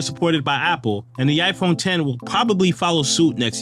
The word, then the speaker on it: iPhone X: Marking the 10th anniversary of the iPhone X, actually pronounced iPhone 10, was released a couple weeks after the iPhone 8, right on my birthday in 2017.